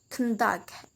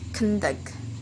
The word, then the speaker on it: conduct: Okay, if it is we want to use for a noun, we can say conduct, but if we want to use this word become a verb, we should stress in the second syllable, like conduct.